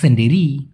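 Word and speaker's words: sendiri: এতে একলা অর্থাৎ নিজে, একলা অথবা নিজেকে মালয়েশিয়ান ভাষায় বলা হয় সেন্ডেরি। কি বলা হয়? সেন্ডিরি। অনেকে বলে সিন্ডিরি। কেন ভাই, কেন সিন্ডিরি বলবেন? এস ইতে আপনার সে উচ্চারণ হয়, SEN সেন, DIRI ডিরি, সেন্ডিরি।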